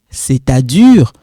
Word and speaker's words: c'est-à-dire: it, forget about this, forget about that S is silent, c'est à, you link this, c'est-à-dire, this one forget